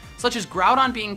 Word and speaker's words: Groudon: of the most popular box are legendary Pokemon pronounced wrong such as grout on being called ground on or Groudon and hoo being called ho ho